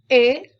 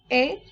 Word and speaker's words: et: There's a new word et which means and it is pronounced as a. Bonjour mes enfants et bienvenue mes enfants.